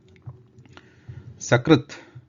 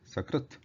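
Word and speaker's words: सकृत्: Sakrit means at once, Sakrit, at once. Shakrit, the last one is the Talavya Sha, Shakrit. If instead of pronouncing Sakrit, if you pronounce Shakrit, the meaning changes.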